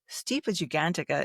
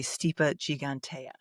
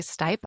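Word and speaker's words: Stipa gigantea: Steipa gigantica is actually steep gigantea. Moving on. And it's actually stip.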